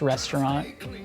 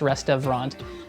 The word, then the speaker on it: Restavrant: band's name is pronounced restaurant the V is silent it's not pronounced rest of rant even though that's what